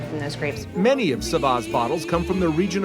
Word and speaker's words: ça va: what's in the name it's very common French phrase pronounced Saba and it is basically